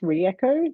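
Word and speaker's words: Ryeqo: year or so um I'm not quite sure who thought of the name but it's pronounced recho the Reps tell me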